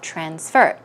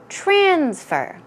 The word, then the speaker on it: transfer: most commonly people say transfer okay that can be used in the verb and the noun form but it would be proper to put the stress on the second syllable when you are using